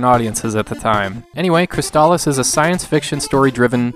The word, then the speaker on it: Crystalis: Or is that Crystalis? Seriously, how do you pronounce this title? Well, let's check the commercial. Crystalis, new from SNK.